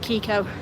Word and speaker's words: Keiko: So, I spelt it Keiko, but I pronounce it Kiko.